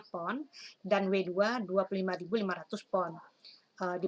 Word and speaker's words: pon: Berat lantai yaitu untuk lantai 1 W1 52.500 pon, LB ini bacanya pon, dan W2 25.500 pon.